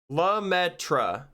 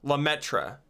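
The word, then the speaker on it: Lemaître: me look it up lametra lametra is the English pronunciation I probably butchered that but I tried guys you have no idea how hard I tried to pronounce that lutra is what I'm going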